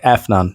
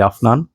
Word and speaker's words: Afnan: six is this one Americans say F none this is actually afnan tobacco rush I'm actually